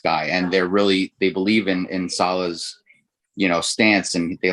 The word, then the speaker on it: Saleh: I thought you pronounced it Rob Saleh. Okay, Saleh.